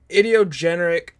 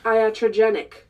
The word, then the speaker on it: iatrogenic: into it it is how not to die from idiogeneric that's not how you pronounce it I'm sorry for butchering that it's pronounced iatrogenic that word iotrogenic and I